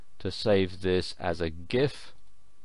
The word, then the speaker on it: GIF: save this as a GIF. GIF or GIF as some people pronounce it.